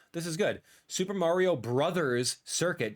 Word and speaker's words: Bros.: Super Mario Brothers Circuit. Don't you dare call it Mario Bros. anymore. Bros. B R O S E is not the pronunciation uh at all.